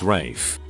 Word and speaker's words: Ralph: usually a jagal cter being called Ralph but pronouncing it Rafe my mother while not